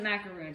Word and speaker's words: macaron: I pronounce it macaroon, so I'm going to be pronouncing it macaroon throughout this video.